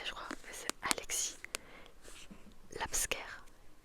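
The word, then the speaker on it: Laipsker: crois mais c'est Alexis Labscare la Labscare, je sais pas prononcer. Donc L A I P S K Rlexique. Donc Alexis L A I P comme papa S K E R C'est l'abscre.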